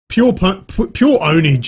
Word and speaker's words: Pure Pwnage: Pure Ownage is how you say it, but it's with a P, Pure Pwnage or whatever.